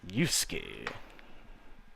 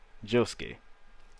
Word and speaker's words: Josuke: Basically, it's Yusuke. Josuke. Why do I keep calling him Yusuke? Every time I say his name, I say Yusuke. Josuke.